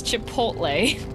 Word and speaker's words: Chipotle: It's not pronounced that way? No, it's Chipotle.